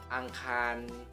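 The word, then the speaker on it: อังคาร: Dibaca kayak gimana? Dibacanya adalah, angkan. Angkan.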